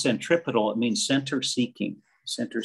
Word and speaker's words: centripetal: 75 cents so ron that word is is pronounced centripetal it means center seeking center seeking center seeking